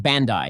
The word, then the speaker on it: Bandai: connected to the internet my understanding is that Bandy Namco did that so they can do patches it's pronounced Bandai tomato tomoto is this on purpose anyway I